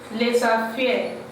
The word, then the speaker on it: les affaires: I told you in our last class that whenever a vowel is following a consonant, you pronounce them together. So that is why we pronounce this one as les affaires.